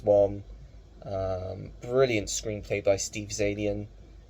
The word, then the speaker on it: Zaillian: Brilliant screenplay by Steve Zaillian. Is it Zaillian? Yes, Zaillian, that's how you say his name.